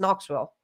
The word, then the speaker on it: Knoxville: like you know it's it's not X Knoxville it's just Knoxville that's just is like somebody just put a k there my favorite of all